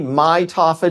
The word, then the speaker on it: mitophagy: again how do you say that so autophagy mitophagy autophagy it's and mitophagy yes okay so you